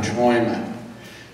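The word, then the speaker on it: Träume: Our next tune, many ways, we've experimented with many different ways of pronouncing this tune. I think we've decided on Traume, and it means dreams.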